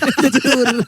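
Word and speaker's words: Jetour: Jetur. Jaiko. Jaiko.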